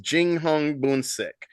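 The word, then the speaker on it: 英雄本色: kind of romanization of Chinese names uh is pronounced Jing Hong buik so but it also means literally True Colors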